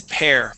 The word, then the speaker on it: parents: is parents parents yeah instead of parents it's pair parents parents okay and one last